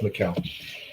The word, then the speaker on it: Mikkel: Is it Mikel or Michael? I don't remember how to pronounce the name, but I believe it's brilliant. it's Mikkel. It is such a good standalone.